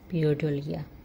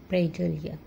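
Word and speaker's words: pareidolia: এটাকে বিজ্ঞানের ভাষায় বলে পিওরডলিয়া। উচ্চারণটা হবে প্রেডলিয়া।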